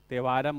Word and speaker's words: Thevaram: Compiled in तेवारम और थेवारम। टी ना, like C in south India if you right Amrita, so they right like this, रिथा, TH फॉर टी है ना, pronunciation उधर का अलग होता है हम लोग ना, तिरुअनंतपुरम